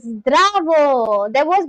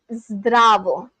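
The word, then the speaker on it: здраво: Oh, zdravo. There's one guy from Serbia who is on my channel, and he taught me how to say hello in Serbian, which is zdravo.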